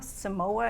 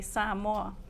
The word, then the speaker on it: Samoa: some for some context I worked in Samoa Samoa As Americans pronounce it it's tiring exhausting in fact someone asks you where are you from I say sam Mo this is their answer oh San Juan no